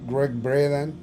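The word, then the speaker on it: Gregg Braden: junto con Great bredan aunque se escribe braden pero se pronuncia Greg braden este todos ellos hemos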